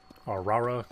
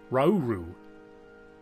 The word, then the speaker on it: Rauru: Arara kind of sus. Is that how you say his name? Where's the thing? Rauru.